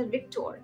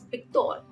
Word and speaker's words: Victor: the other one um V is B so if your name is Victor it's not pronounced Victor it's Victor like b-i-c-t-o-r-e when when we used